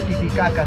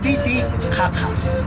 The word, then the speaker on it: Titicaca: En Aymara no se dice Titicaca suave, ¿no? Es mucho más fuerte la pronunciación. Como lo dije al inicio, Titi Jaja. Cuando digo Titi Jaja fuerte, ya estoy hablando Aymara.